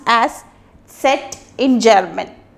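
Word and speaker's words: Zett: is he said in English and it is pronounced as set in German set and for example we can say say bra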